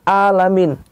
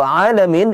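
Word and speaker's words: العالمين: Jadi di saat kita membaca Alhamdulillahi Rabbil Alamin, hati-hati jangan keliru. Jangan alamin. Kalau alamin itu semesta alam.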